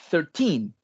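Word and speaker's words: thirteen: En cambio, el 13 tiene su acento, el cargo de voz va al final.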